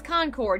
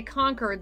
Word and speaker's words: Concord: I'm you today yes did I say it right is it Concord or conquered no it's Concord Yankees say conquered they have their little